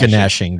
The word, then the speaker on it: gnashing: It's pronounced gnashing, by the way.